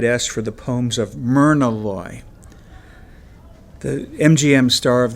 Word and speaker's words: Mina: I had kind of figured this might happen, so I had spent enormous energy pronouncing the name Mina correctly and clearly as the day is long. "Mina, not Myrna," I said thinly.